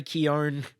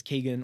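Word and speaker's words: Keoghan: 6 of course Barry keown which I've apparently been mispronouncing is Keegan all these years um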